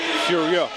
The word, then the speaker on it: Furieux: I've been corrected on the French pronunciation of that by Miami Vice. It's Furieux. Furio. It's a harder one because of the EUX.